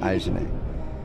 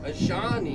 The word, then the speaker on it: Ayshané: Okay, will you spell it for me then, Ayshané? A-Y... Yeah, that's what I said. S-H... A-N-E with... an accent. Ayshané.